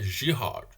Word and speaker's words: Girard: relações de girard é como o cara é francesa então a pronúncia correta é giro ok pessoal vamos lá